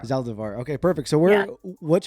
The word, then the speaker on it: Zaldivar: Saldivar. Did I pronounce it right? Yeah, Zaldivar. Zaldivar.